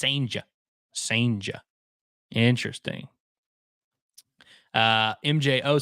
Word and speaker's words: Sanja: Gerangelo Sanja, courtesy of the Mississippi State Media Guide. Gerangelo Sanja. It's spelled like Ciginte, but it's Sanja.